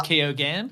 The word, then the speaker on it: Keoghan: Anyway, this is via Barry Keoghan, and I looked up how to pronounce that. His And it's Keoghan?